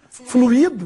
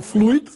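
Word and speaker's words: fluído: Só recebem acento as palavras jesuíta, fluido, do verbo fluir e não fluido. Fluido seria um ditongo, não tem acento.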